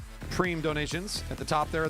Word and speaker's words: prime: don't the prime donations looks like prime when you look at the way it's spelled preem donations at the top